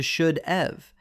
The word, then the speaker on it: should've: When spoken naturally, should have contracts to should've. Because the v sounds like the word of, thousands of people mistakenly write should of.